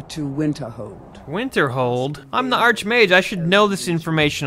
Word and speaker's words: Archmage: Greetings, Archmage. Oh, I'm the Archmage. Shut up. Oh no, I've been pronouncing it wrong all this time.